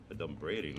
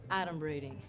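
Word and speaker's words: adumbrating: 38 points for me a dumb braiding that's not even a word mega first of all it's pronounced atom braiding and it means pretending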